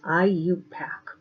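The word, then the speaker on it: IUPAC: use we use what is known as the IU pack I you p8z method of nomenclature okay so the way it's pronounced as IU pack and this short for International Union of pure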